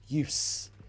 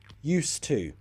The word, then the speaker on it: used: that's not correct so this is use use it's like an S so not a Zed used to pronunciation used to if